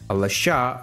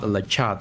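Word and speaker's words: Le Chat: a product name called Lasha. It is from a French company and that's why the correct pronunciation is Lasha, not Lach.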